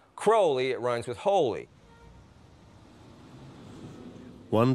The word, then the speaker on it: Crowley: Crowley in his own writings he said it's pronounce crowly it runs with Holy One Day in Cairo